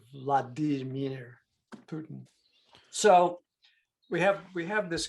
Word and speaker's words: Vladimir: Vladimir. Okay. So it's like Vladimir, and the I's are pronounced as E's, as it is in a lot of languages.